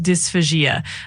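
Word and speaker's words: dysphagia: It's pronounced dysphasia.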